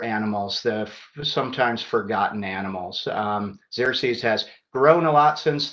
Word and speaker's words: Xerces: Very last, some of you may have never heard of the Xerces Society, and that's how it's pronounced, the Xerces Society. I've heard it pronounced the Xerces Society, but that's not how I tend to pronounce it.